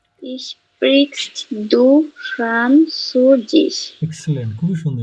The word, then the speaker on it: sprichst: এটা আমি উচ্চারণ করতে পারতেছি শোনেন, ইস sprichst.